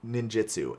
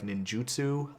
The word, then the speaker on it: ninjutsu: And I know that the right way to pronounce it is actually something like ninjutsu, I think. But here's the thing. Even though Seki's pronunciation guide really wanted me to learn how to pronounce that word several years ago, unsuccessful. And so now it is ninjutsu, and that is the way that I have always pronounced it. So even if I try